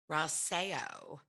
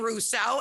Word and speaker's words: Rauseo: i have my girlfriend caroline raseo correct okay so i've been saying russo and i'm like caroline how do you say your last name and she said it